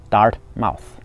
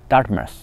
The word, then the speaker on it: Dartmouth: 对啊，我管它叫做 Dartmouth，其实不对啊，这个应该读作 Dartmouth。